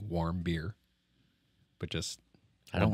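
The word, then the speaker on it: Warmbier: stomach because no and it's it's w r m b i e r so I think warm beer but just I don't like warm beer nobody does right um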